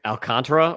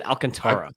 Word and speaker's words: Alcantara: Sandy Alc alcantra or Alcantara. I always said Alcantara. Announce or say alcantra. That's like quick. Yeah. Accent on the second sy.